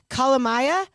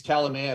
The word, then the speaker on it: Kalamaya: his name is ryan calamaya did i say that right i should have asked you prior but it's all good it's calamia but jill i was